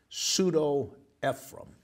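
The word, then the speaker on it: Pseudo-Ephraem: dash e p h r a e m pseudo ephraim is how that's pronounced and what that is the earliest extra-biblical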